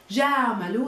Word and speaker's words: جاملوا: Remember this alif at the ending, we don't pronounce it with them. جاملوا is just a symbol of plural.